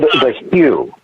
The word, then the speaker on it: The HU: There's a band called The Hue. It's spelled the HU.